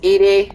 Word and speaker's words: EDI: all in perspective joker uh leather it's called edie yes shepard let's talk about you i want